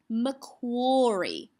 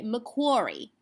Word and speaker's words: Macquarie: accents around the world perhaps that might pronounce this word as Macquarie okay so you're American now I love to get my American accent out you might say Macquarie okay so in that instance make an or sound but more often than not for us living in Australia we are treating it as an op sound and therefore it would live in the OP box don't get tricked with